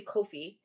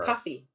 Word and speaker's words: Kofi: And my name is phonetically Kofi, but it's really pronounced coffee like the drink.